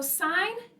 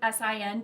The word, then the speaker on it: sine: So sine is usually abbreviated with sin, but don't pronounce it as sin because it's representing sine of an angle.